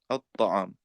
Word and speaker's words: الطعام: The lam is not even pronounced as well, so we forget that. So that doesn't exist. These two do not exist in pronunciation, so we don't need to worry. Now the ta has a shadda, at-ta'am.